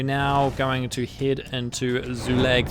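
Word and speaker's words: Zulag: So, it's a U and then an A after an L. So, Zoolag. Yeah, I'm pretty sure. Zoolag. I'm pretty sure that's how you say it.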